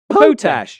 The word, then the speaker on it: Potash: Pronounce Potach.